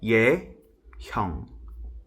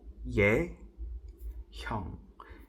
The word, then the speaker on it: Yehyung: But yeah, it's pronounced Yehyung. Yehyung. Like Ye as in Yesu. Hyung as in there's no other word with that with that syllable. So Yehyung.